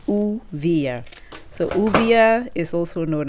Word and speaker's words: Uvilla: So guys, I did some further research and the correct pronunciation of this fruit is Uvilla, not Uvilla. It's Uvilla.